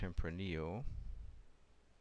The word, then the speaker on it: Tempranillo: Syrah blends, Sangiovese, and Tempranillo. I murdered that one previously, so 1 out of 3 is not bad. It's actually pronounced Tempranillo.